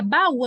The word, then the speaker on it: baú: Tanto é que a gente pronuncia baú, a gente não diz baú. Não é baú. Com U fraco, ó. Baú. É ba-u. O U é forte também.